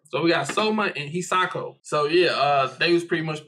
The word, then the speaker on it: Hisako: I thought it was Hisoka. I'm saying, you right, but I think it's like one syllable that's different. Aisoka, something like that. But hold on, let me finish. It's Hisako. Hisako?